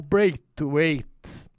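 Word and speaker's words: Braithwaite: Agora uma pergunta para ti, o Bra to Weight, essa essa é a pronúncia correta.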